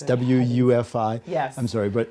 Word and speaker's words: WUFI: that's the software program that i what does woofy stand for again it's wufi yes i'm sorry but it's in german it's